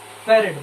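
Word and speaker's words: farad: फैरेड बोल सकते हैं, ठीक है ना? इसको बोलते जैसे ज्यादातर बोलते हैं फैरेड, फराड भी आप बोल सकते हैं, ठीक है? अपना अपना प्रोनाउंसिएशन है, ठीक है ना?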